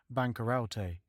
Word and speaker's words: bancaroute: In the first folio of Shakespeare, the word is printed bancaroute, pronounced as 4 syllables, but this was altered in later editions to bankrupt.